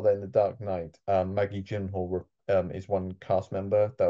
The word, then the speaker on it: Maggie Gyllenhaal: Maggie Gyllenhaal, that's how you say it.